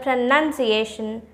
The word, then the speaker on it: pronunciation: word is the word pronunciation pronunciation listen carefully that how i am pronouncing the word pronunciation we often confuse the word